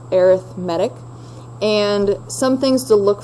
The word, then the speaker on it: arithmetic: sequence that's called arithmetic okay it looks like arithmetic but it's pronounced arithmetic and some things to look for for these